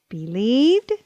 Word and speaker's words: believed: the two vowel rule when the vowels IE are together in a word they usually make the sound e let's learn an ie